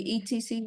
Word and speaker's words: etc.: ETC, you will pronounce that etc. Yeah. Etc. Rồi cái này mình sẽ phiên âm theo cái kiểu giữ nguyên cái gốc Latin luôn ha. Cái này từ chữ Latin ra. Mình đọc, mình thấy nó thì mình sẽ đọc là etc.